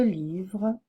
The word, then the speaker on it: livres: la fin des mots ce s final ne se prononce pas on dit livre fille homme un livre de livres trois livres une femme